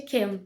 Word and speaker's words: Cam: Basicamente, a Belly conheceu o Cam, que na verdade é Ken, né? Se pronuncia como Ken.